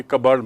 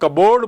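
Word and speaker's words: cupboard: कबर्ड मैंने आपको बताया था पहले भी, कबर्ड मतलब रैक। उसकी हम लोग कबोर्ड बोलते हैं जिसे, वो एक्चुअली कबर्ड है, और उसकी स्पेलिंग देखिए, cup plus बोर्ड, but pronunciation is कबर्ड।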